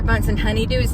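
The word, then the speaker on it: Bunsen Honeydew: they kept getting Dr bunson honeydew's name wrong they kept calling them bunson burner and I was I was getting so crazy like it's Dr bun honeydew it's Dr bunson honeydew I was getting so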